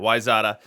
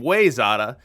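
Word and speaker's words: Wayzata: the wyzada trojans now i believe the pronunciation of wyzata is just that why zada i think that they were on an early practice mix perfectly extreme of mine and i was saying way zada and i was corrected but if i am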